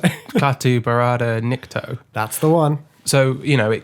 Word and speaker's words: Klaatu Barada Nikto: Klaatu Barada Nikto.